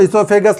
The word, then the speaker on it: oesophagus: अब आप पूछोगे सर तो यहाँ पे OESOPHAGUS ईसोफेगस लिख दिए हैं और यहाँ पे सर ने O नहीं लिखा। एक्चुअली ईसोफेगस में O साइलेंट होता है। O is always silent in ईसोफेगस।